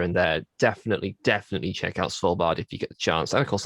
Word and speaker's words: Svalbard: How do you pronounce it? Svalbard.